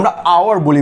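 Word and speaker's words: hour: এই যে ভাই আওয়ার, তাহলে কি ভাই এ না অ্যান, কারণ আমরা হাওয়ার বলি না, আমরা আওয়ার বলি ভাইয়া।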